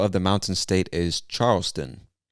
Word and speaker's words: Charleston: the mountain state is charleston charleston like the name charles and then add tun to the end charleston charleston west virginia all